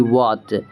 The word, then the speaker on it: what: दूसरा, अगर डब्ल्यू के जस्ट बाद एच है तो वहाँ पर भी एच को हम प्रोनाउंस नहीं करेंगे। जैसे WHY, हम इसे पढ़ेंगे वाई। ठीक है, WHAT वाट, WHEN वेन पढ़ते हैं, ना कि भेन पढ़ते हैं।